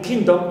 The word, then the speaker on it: kingdom: Also, done, right, the suffix done, like in kingdom, is neutral, so we stress king and not done.